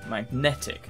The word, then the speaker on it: magnetic: syllable consider second syllable magnetic second syllable question number three canal